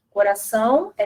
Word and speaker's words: coração: Depois a gente tem a letra O, que também representa a semivogal, a palavra coração, né? Coração é terminado com O, mas o som do O é o som de U.